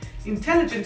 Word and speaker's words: intelligent: Después de la I tenemos dos consonantes, por eso esa vocal suena en corto, casi como lo decimos suena como si fuese en español.